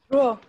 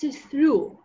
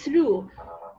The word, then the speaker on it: through: Throw. No, it's not throw, it's through, okay? When we have R, it's through. This word is though. We read it O, though, without R, but this one is through.